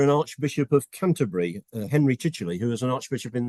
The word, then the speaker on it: Chichele: But the Chichele bit causes people lots of problems because it's spelt Chichel. And when they come to look at it, they have difficulty actually knowing to put a Y on the end of it.